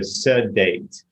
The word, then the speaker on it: SD8: For me, it's just a creative pronunciation of the acronym SD8. So sedate.